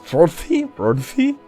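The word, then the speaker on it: Fróði: I think that's kind of like a D with a little f thrown into it. So it's Frodi.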